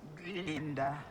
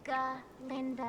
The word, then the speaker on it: Galinda: Linda. It is Galinda.